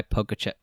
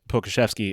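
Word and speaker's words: Pokuševski: these teams, but I will say that guy Pokachev, I might say his name wrong. I'm going to be honest. I think it's Pokashevsky.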